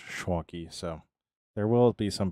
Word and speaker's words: Schwanke: at me went, "Huh, Schwanky." And that's where I got it from. That's where I got it from. So he actually said Schwanky, but the correct the correct Germanic pronunciation is Schwanky.